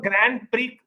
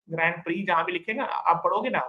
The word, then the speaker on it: Grand Prix: Grand Prix but we actually pronounce it as Grand Prix Grand Prix Formula 1.